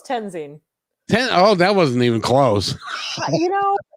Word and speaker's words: Toensing: Toensing, right? Close. Tenzing.